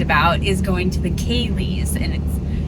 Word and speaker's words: Ceilidh: And that's one of the things that we're primarily psyched about, is going to the Ceilidh, and it's spelled Ceilidh. It confused the heck out of me when we first got here.